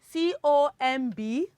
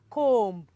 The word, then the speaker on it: comb: Okay, we have C-O-M-B. Okay, I know you pronounce it as comb. Well, the correct pronunciation is comb.